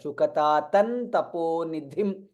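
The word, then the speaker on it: शुकतातं तपोनिधिम्: Shukatatan Taponidhim. Dha is Mahaprana. Shukatatan Taponidhim. That's how it needs to be pronounced.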